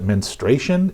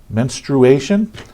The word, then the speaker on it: menstruation: talk about a minute people who don't pronounce menstruation correctly I've seen physicians call it menstruation it's menstrual there's a you in there menstruation so yeah this is what happens